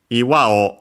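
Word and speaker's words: 岩: Iwao aiteni nagetsukete subayasawo sagete Uh Oh yeah, first we have iwa already mentioned, yeah. Rock as in boulder uh accent on the last mora.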